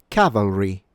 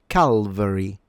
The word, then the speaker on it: cavalry: Please note that it is not pronounced Calvary. So what happens sometimes is that the l is changed for a l v. But as you can tell by the spelling, the v precedes the l.